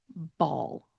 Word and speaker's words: ball: So the word that we're going to say is ball. Ball. Ball has that dark L sound.